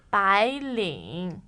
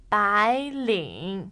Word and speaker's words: 白领: 白领 Again, please. 白领 Good.